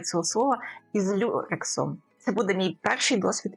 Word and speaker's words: люрексом: Звісно, як ви бачите, якщо в мене дійдуть руки, то це буде мій перший досвід із рюле. Я не вимовляю цього слова, із люрексом.